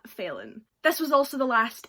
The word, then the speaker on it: Phelan: quarantine by James Phelan I think is failing is pH e le in so I'm pronouncing that failing this was also the